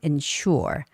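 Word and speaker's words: ensure: Now you can tell that the word the root of the word is sure and the een part has been added. So the stress doesn't go on een but goes on insure.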